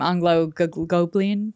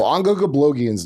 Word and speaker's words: Ongo Gablogian: Anglo-Goblian? How do you say it? No, Ongo Gablogian's not like that.